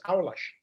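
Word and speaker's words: aulas: my class portuguese the phrase the word is our lush did you repeat that it's not even called a-u-l-a-s pronounced versus it's not even close what about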